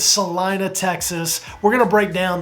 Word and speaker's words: Celina: for all intensive purposes Selena Texas is one of Dallas's best suburbs what's that it's pronounced Salina I don't believe you